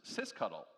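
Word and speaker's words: sysctl: disco and our favorite system control which is pronounced CIS cuddle thank you for your attention to this Pro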